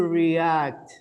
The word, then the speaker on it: react: it again pay attention how would you react re-act two syllables react to better react